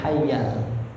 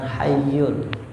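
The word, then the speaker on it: الحي: Ingat dibacanya hayyal, bukan hayyul. Yang betul bacanya apa? Hayyal ya.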